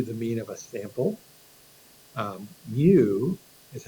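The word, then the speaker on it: μ: Mu is how we pronounce that.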